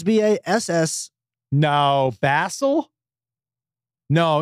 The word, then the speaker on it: Basil: It's B-A-S-I-L is Basil. They say his name Basil. His name is Basil. I don't think but it's they spelled. They just say it because that's their British accent.